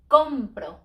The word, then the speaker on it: compro: compro when I buy compro because it ends in a vowel so we don't stress in the last syllable we stress next to last shoe ends in a